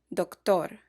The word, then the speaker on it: doctor: Spanish words that end in OR are stressed on the last syllable. For example, doctor. The letter R is trilled in Spanish.